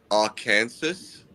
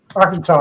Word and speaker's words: Arkansas: Do does anyone ever pronounce it a Kansas? Yes. Yes, we also correct we correct him very quickly on that also. I never heard that. A Kansas before. Yes. Arkansas.